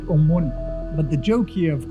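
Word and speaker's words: ОМОН: If you look at the text on the back of them, in Russian you pronounce it Omun.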